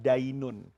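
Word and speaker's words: دَيْن: Dan yang ingin saya tutup pertemuan ini, agama itu dalam bahasa Arab dinun. Hutang itu dalam bahasa Arab dainun. Jadi hurufnya sama, tapi beda cara bacanya.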